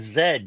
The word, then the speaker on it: Zed: Americans and having word letters like Z and Zed get in the way yeah it's pronounced differently up there all right no it's